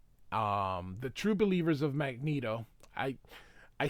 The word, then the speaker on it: Magneto: we go but it should be Magneto but I will continue saying Magneto because that's how everybody says it but it's Magneto all right um holy